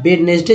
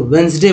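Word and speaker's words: Wednesday: दोस्तों, अगर शुद्ध उच्चारण, करेक्ट उच्चारण की बात की जाए तो वेडनेसडे नहीं बोलेंगे, जबकि उनको उसको करेक्ट बोलना है इंग्लिश जो पढ़ा जाता है तो वेंसडे बोलेंगे।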